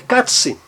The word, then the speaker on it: Katze: estamos falando do A, sempre que o A vier seguido por duas consoantes iguais ou não, o som é breve. O som é breve. Katse, um som breve.